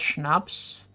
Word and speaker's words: schnapps: I love the way June says schnapps. How would you pronounce schnapps then? It sounds very German, like schnapps. Schnapps. Like you have to pronounce the sh sound.